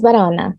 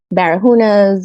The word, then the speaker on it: Barahona: So I get a lot of Barahunas or Barracudas. I'm like, yep, you got it. It's not even like that hard to pronounce. It's like it's spelled the way you should pronounce it.